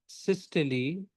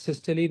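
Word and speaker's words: systole: Cardiac cycle is basically the time from one atrial सिस्टली to another is pronounce सिस्टली नॉट सिस्टोल।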